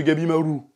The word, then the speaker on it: Gabimaru: C'est-à-dire que, par exemple, le personnage de Gabimaru, je le prononce bien, t'as vu, qui réussit à le maîtriser.